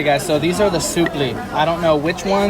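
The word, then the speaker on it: supplì: I've just learned that it's pronounced suppli.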